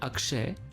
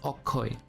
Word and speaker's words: Akshay: So instead of saying Akshay, he says Akshay.